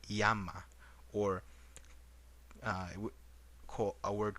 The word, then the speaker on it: llama: is the word u the word llama you would actually say this as yama or uh a word